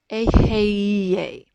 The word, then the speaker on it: Aheye: So now what we're going to do is we're going to re-establish the flow of light by toning the God name Aheye.